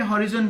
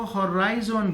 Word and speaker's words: horizon: यूके और India में हॉरिजॉन बोलते हैं और अमेरिका में इसको हॉराइजन बोलते हैं।